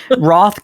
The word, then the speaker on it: wroth: Wroth can also be pronounced wroth, which is how it's more often pronounced in British English.